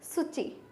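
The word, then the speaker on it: つち: सुची। ये हिरागाना का सु है और ये ची है, और ये टी यहाँ पे साइलेंट हो जाता है इसलिए ये सुची।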